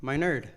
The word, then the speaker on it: Minard: one now how do you say his name my nerd there you go man for the longest time